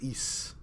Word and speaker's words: Ys: Oh yes, it sounds like geese, but without the G.